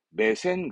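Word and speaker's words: 目線: 해서 놓고 시선을 입력이납니다 그럼 이때는 목자 발음이 아니니까 매로 읽고 뒤에는 선으로 가서 발음은 매센 그래요 우리말로는 시선을 말할 때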